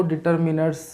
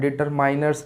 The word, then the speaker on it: determiners: सबसे पहले तो डिटर्मिनर्स को डिटर्मिनर्स ही प्रोनाउंस करना है, डिटरमाइनर्स नहीं। डिटरमाइनर्स बहुत सारे बच्चे प्रोनाउंस करते हैं और प्रोनाउंसिएशन जो है डिटर्मिनर्स सही है, डिटर्मिनर्स, राइट। डिटरमाइनर्स कोई भी नहीं बोलेगा इसको।